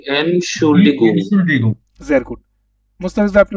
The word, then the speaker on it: Entschuldigung: শুনুন ভাই উচ্চারণটা করেন তো। ই এনশুল্ডিগুং। Entschuldigung.